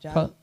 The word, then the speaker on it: Jagannath: I'm sorry, I don't want to mispronounce the deity, the Godhead. Is it Jagannath? Kalashanji? No, Jagannath.